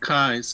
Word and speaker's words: Keyes: Sure, it's pronounced Kais to begin Keyes, with.